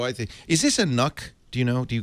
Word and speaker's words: NUC: So I think NUC rhymes with puck.